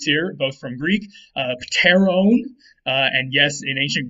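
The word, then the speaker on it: pteron: t so it'd be paterone all right in modern english we uh we don't do that we don't like to say pt at the beginning or so we just make the p silent and say taro or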